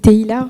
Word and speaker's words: Teila: Alors, Taïla, c'est bien prononcé? C'est Teila. Teila, voilà. Exactement.